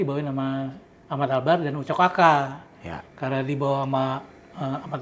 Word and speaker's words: Aka: Aka ya bacanya Ucok ya?